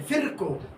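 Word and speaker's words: Virchow: he said that omnis omnis सेलुलाई सेलुला सेलुलाई सेलुला तो ये ये जो विकको है फिरको ये जो स्पेलिंग है वी आई इ आर सी एच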